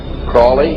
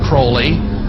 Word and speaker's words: Crowley: i learned about aleister crowley crawley he likes to be have his name pronounced crowley to rhyme with holy and uh the satanists